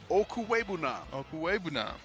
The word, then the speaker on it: Okwuegbunam: Okwuegbunam. I practice. Yeah, that. I know. I got to have a little reminder here. It's a silent G. Ain't nobody heard of a silent G before. Okwuegbunam.